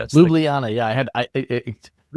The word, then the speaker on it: Ljubljana: I'm not pronouncing that right. That's Ljubljana.